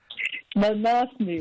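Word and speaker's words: Manaslu: Manus manasu how do you say it Angela manasu manasu and and this one is a Dublin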